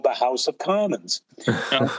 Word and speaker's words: Kahmann: Uh, our name is called is pronounced common, but it's spelled with a K.